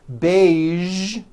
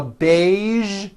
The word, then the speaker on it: beige: casual television very good now there are only a few words that have the voice sound at the end a few of these words are the color beige the word massage and the word Prestige okay okay now that